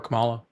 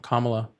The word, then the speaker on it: Kamala: Why would you rather have him over Camala? Kamala. See, you got me saying it wrong. Kamala.